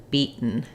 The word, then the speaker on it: beaten: my te not beaten you can say beaten but Americans will say beat where they don't release that t and then they go right to a cab can beaten beaten and for bitten